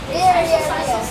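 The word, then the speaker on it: rya: Rhea, Rhea, and Rhea. They're homonyms. Rhea, Rhea. Rhea, Rhea, and Rhea. Rhea, Saria over there means a rug.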